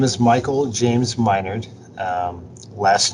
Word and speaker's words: Minard: It's pronounced like I'm your nerd.